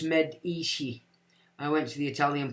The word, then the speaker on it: Medici: Medici pronounced Medici.